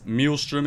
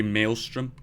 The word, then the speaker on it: maelstrom: Like just the other day, I found out that Melstrom is actually Maelstrom.